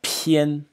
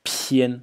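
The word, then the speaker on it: 偏: And this is pian, so an aspirated English P sound, pian.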